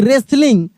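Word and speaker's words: wrestling: डब्ल्यू आर ई एस टी एल आई एन जी रेसलिंग।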